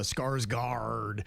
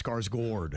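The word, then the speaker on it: Skarsgård: got that little whatever over the A and that's supposed to make it sound like Gord, not Guard. And everybody calls it uh Skarsgard like it's a pirate, but it's Skarsgord.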